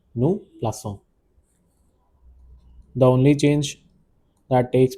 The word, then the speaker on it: plaçons: With c the sound of it is a bit soft s is how we pronounce it. Nous plaçons.